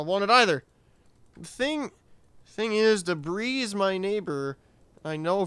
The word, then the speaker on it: debris: The thing is, debris is my neighbor. I know from asking him that they prefer their name to be pronounced as the English word debris.